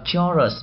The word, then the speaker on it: chorus: Chúng ta không đọc là chorus mà chúng ta phải đọc gì?